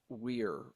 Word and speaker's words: Wir: So the closest that the common tongue can refer to his species is pronounced uh, wir, W-I-R, but that doesn't quite hit it.